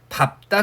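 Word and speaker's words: 밟다: 그래서 밥다 같은 경우에 어감 부분을 자음 앞에서 뭐로 발음해요? 밥으로 발음을 하고요.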